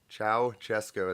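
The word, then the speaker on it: Ceaușescu: Strang looking human being Chow chesco is how you say that okay and then there's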